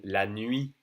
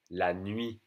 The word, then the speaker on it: la nuit: N as in la nuit. La nuit. N-U-I-T. La nuit. We don't say the T for night.